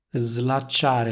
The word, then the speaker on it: slacciare: poi suono l slacciate Il problema è che queste parole non andrebbero pronunciate così ma andrebbero pronunciate nel modo seguente slacciare la cintura e mi si sono slacciate le scarpe quindi il suono della s in questo caso è più simile al suono della S intervocalica che troviamo in una